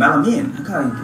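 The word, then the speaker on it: melamine: তো ও আমার পরে বললো, ও হয়তো বিদেশি ছিল, বললো এটা তো এটা মেলামাইন না, তো তোমরা তো ভুল বলো, এটা হচ্ছে মেলামিন, কয় কি আলামিন, তো এটা মেলামিন, স্যালাইন সাইলেন, বাইনোকুলার বিনোকুলারস।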